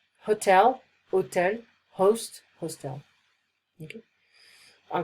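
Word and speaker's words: hôtel: The same goes for hotel, we don't pronounce the H. Hotel, hotel, host, hostel.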